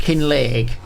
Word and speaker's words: Kinlaig: But it's pronounced kin league.